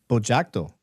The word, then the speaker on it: Bogiatto: Bojto.